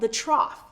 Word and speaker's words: trough: troughs in wave one notice the spelling of the word trough it's spelled like the word enough the o u h ends with the f sound again the lowest point